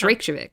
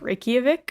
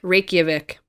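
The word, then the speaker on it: Reykjavík: the steam from its hot springs and it's rachelvic rape oh i was pronouncing this wrong help me here reykjavik reykjavik okay i've been there and i've been in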